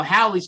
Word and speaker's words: Halley: Well, Haley's Comet is now Halley's Comet with a short A and a double L. It doesn't even match Bill Haley and a single L long A.